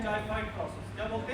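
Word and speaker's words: xiphoid: अब जो स्टर्नम की हड्डी के नीचे लास्ट में एक पत्ते की तरह हड्डी होगी, लीफ जैसा, उसको बोलते हैं जाइफाइड प्रोसेस। क्या बोलते हैं? जाइफाइड।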